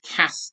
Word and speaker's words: Castell: if you want to pronounce Castell like a Welshman, it's actually Cast Cast. I should have known that Welsh double L would cause trouble somewhere along the line.